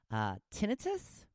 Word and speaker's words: tinnitus: It looks like I have something called, and I'm sure I'm going to say it wrong, tinnitus?